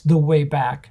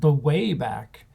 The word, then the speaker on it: The Way Back: of prey in tenth i should say the way back properly and not put the emphasis on the wrong end it's the way back not the way back um and lastly but